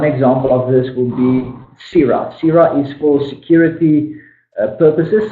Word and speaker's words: PSIRA: I need to be registered with SIRA. That is spelled PSIRA.